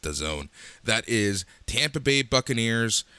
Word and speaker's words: DAZN: It's pronounced DAZN.